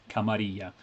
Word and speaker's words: Camarilla: masquerade actual play campaign on youtube where they pronounce it correctly because it's run by one of the game designers anyway camarilla so uh this book camarilla i don't have